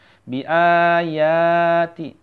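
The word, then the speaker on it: بِآيَاتِ: Bi ayati, a-nya panjang, alifnya panjang, ya-nya juga panjang ya.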